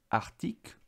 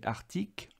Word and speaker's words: arctique: de la mer arctique alors on prononce arctique tout le monde dit arctique mais je fais exprès de bien prononcer arctique pour que tu tu vois bien que tu entendes bien le C d'Arctique arc comme arc polaire donc c'est le